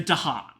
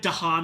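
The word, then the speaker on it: Dahan: Um, and we have lived for ages with the native people of the island, the Dhan, which apparently the fact that Dhan is pronounced sort of like katan is a complete coincidence.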